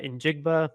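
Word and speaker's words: Njigba: in Jackson Smith uh in jigba I believe that's how you pronounce his last name okay that was right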